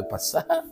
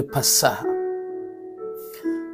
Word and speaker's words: Pessah: parlais pas de l'éclipse, mais je parlais de Pessah.